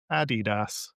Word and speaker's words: Adidas: The brand's founder, Adolf Dler, Addi, intended it to be pronounced Adidas.